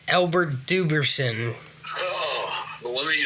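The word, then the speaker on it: Dubenion: Cornelius Bennett, Jet Kemp, Cookie Gilchrist, Albert Debusson, something like that. Jack Kemp. Incorrect. It's Albert Duberson.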